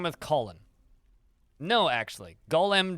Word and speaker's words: Golem: Golem does not rhyme with colon, but at least I wouldn't say that those two rhyme. It's close. They sound similar. Column, yes, column would rhyme with the name of that video game.